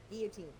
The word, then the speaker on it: guillotine: Well, I'm talking about a guillotine, but I'm saying not a public execution. I'm saying, like... Guillotine. You don't pronounce the L.